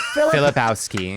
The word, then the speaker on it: Filipowski: Filipowski.